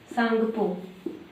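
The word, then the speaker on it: Tsangpo: क्या कहा जाता है सांगपो स्पेलिंग ध्यान रखिएगा क्या पढ़ा जाएगा यहां पर क्या है टी साइलेंट ठीक भारत में कहां से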